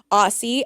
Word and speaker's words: Ossi: Aussie, OSSI, because it rhymes with Stassi.